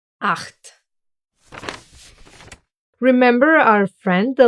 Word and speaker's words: acht: But if it pairs with his friend, the letter C, it will make a sound, exactly like here, acht. The letter combo C and H will actually get pronounced in two different ways.